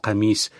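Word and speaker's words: قميص: la chemise qui finalement en arabe se prononce kamise et considère comme un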